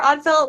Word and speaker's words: Ødfel: Yeah, Oatfell or Oddfell, whichever. It is my old gamer tag from when I used to play MMOs more, so there's no real correct Okay, way.